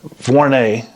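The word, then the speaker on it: Vuarnet: or Vernon Warne I I knew how to say it for a week it's not Varney I know that vornay sent over uh the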